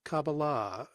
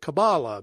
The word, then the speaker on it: Kabbalah: said, no, that's not Kabbalah. I was pronouncing it Kabbalah back then. He's like, well, first of all, it's pronounced Kabbalah, and that's what you're talking about is Christianized.